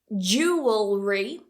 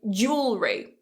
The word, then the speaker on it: jewelry: that W too much don't try and say je well Ray there are two ways to say this jewelry jewelry or what most native speakers do is again we cut that syllable and we say jewelry jewelry this one is by far the easiest way to say it so feel free to